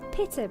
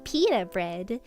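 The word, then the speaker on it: pitta: I say pter bread because it's it's it's pa bread. That's there's Peter bread. That's how you say it. And then I spoke to a friend of mine who is unfortunately an American and they say Peter bread and I hate it.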